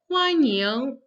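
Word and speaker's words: 欢迎: So we have the first verb to welcome, 欢迎, the first and the second tone.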